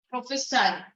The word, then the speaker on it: prophesy: See that's prophecy with the CY and prophesy. That's pronounced as the one with the SY. No, that's pronounced as prophesy.